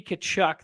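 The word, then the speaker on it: Tkachuk: say we take Brady kachuk this time how's the model like you pronounce so the the t is silent yeah we yeah yeah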